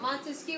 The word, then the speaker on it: Montesquieu: spell it all right but Montesquieu is three syllables three branches of government